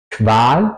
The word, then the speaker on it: Qual: La pronunciación alemana es siempre juntos con una U. Por ejemplo, Qual, Qual o bequem. Qual sería tortura, bequem sería cómodo. Se pronuncia más como una K y una W en español, diría yo.